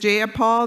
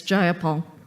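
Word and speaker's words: Jayapal: you agree with Miss ja Paul that there was no takeover it was just if you're going to say my name please say it right it's jaia Paul jaia Paul do you would you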